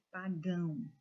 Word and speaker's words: pagão: Irmão, artesão, pagão. Notem que a última sílaba foi dita com mais intensidade.